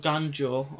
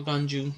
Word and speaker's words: Ganju: Now, the arrival of Ganjo, or Ganju, depending how you want to pronounce his name, kind of makes me